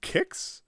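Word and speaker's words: Qix: 5 minutes now I Quick's pronounced kicks G is that true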